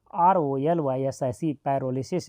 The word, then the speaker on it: pyrolysis: यदि इंग्लिश में ऑप्शन हो तो कन्फ्यूज नहीं होना आप, ये पी यहाँ पर साइलेंट है, याद रखेंगे पी साइलेंट है, इसलिए स्पेलिंग पी से शुरू है। PYROLYSIS पैरोलिसिस।